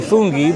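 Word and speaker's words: funghi: So, uh we both got Angie got a proto a she doesn't like when I say fungi, but that is how you say mushroom in Italian.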